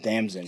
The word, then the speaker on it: Damson: Damson. Jesus. All right, well, Like Damson in distress. Damson in a dress.